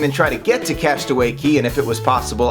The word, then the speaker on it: Castaway Cay: Castaway Cay. Castaway Cay, and yes, it is spelled like that but pronounced Key, is Disney's private island in the Bahamas.